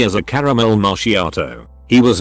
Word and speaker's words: macchiato: and repeated it back correctly as a caramel macchiato he was not joking and called me pretentious for pronouncing it correctly and to not name drinks